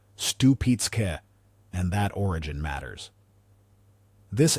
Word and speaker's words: Stupice: Pronounced Stoo-peet-ska.